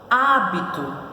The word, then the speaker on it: hábito: penúltima Então ela é paroxítona hábito separando hábito são três sílabas tão Eletro sílaba Qual a posição da sílaba tônica hábito antepenúltima Então ela é proparoxítona muito é isso aí